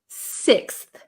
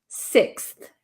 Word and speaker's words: sixth: pronounce six uh so no I wouldn't use an F sound here this should be a th sound so um fourth fifth sixth sixth right six okay foreign